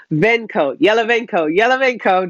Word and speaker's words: Yalovenko: Now, I'm not good with my Russian, so I'm going to try and make sure I pronounce his name properly. It's Artem Yalovenko. Yalovenko.